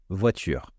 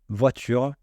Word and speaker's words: voiture: faire tomber c'est-à-dire l'enlever on va dire voiture sans prononcer le E voiture voiture vous voyez il y a une